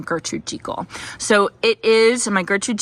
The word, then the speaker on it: Gertrude Jekyll: to say to you all yes it is pronounced Gertrude jiko it is not pronounced Gertrude Jekyll so um I got a ton of comments about that um yes she does pronounce her name Gertrude Chico so it is a migration equal Rose is